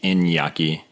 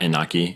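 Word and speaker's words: Iñaki: Inaki Blumbo. Well, so Eny is from Spanish, so it'd be Inyaki. Inyaki. Not Inaki.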